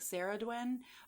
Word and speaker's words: Cerridwen: And uh I have heard people say like Sarah Dwin, but with a lot of these like um older Welsh names and and stuff.